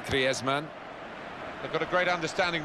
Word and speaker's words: Griezmann: before the World Cup how to pronounce his name properly. It is very much his Spanish background. Said he talks to his dog in Spanish and dreams in Spanish. So I think we can pronounce his name the Spanish way.